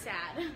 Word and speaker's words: Saad: We should name our vlog Saad Vlogs, but spelled Saad, but pronounced Sad.